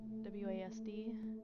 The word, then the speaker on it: WASD: started at use w-a-d-s what wasd is normally how you say it but okay to move